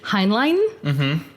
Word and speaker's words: Heinlein: Heinlein, I believe is how you say it, who is basically an author of like choice science books in that era.